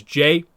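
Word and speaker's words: Jae: And then the other character is J, J-A-E, said like J, obviously.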